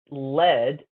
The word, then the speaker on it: lead: Now, this is an odd word because it's pronounced lead, L-E-D, but spelled lead, L-E-A-D.